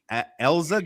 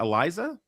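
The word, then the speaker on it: Eiza: Josh Flores says Elza Gonzalez, not Eliza.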